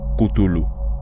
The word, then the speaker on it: Cthulhu: Según el análisis de Peter Levenda, el nombre Cthulhu se pronuncia originalmente Kutulu y en sumerio antiguo significa literalmente hombre del inframundo.